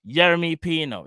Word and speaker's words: Yeremy Pino: I think, how do you pronounce his name? Yeremy. Where is it? Hold on. Yeremy Pino.